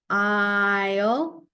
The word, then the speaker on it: aisle: You don't hear A, you hear I. You don't hear S, you hear L. You don't hear E. I-O.